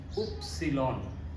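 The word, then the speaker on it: Ypsilon: এর উচ্চারণ হবে ইস ওয় এর উচ্চারণ হবে উপসিলন উচ্চারণটা ওয় এর মতই হয় সেন্টেন্সের এর মধ্যে যখন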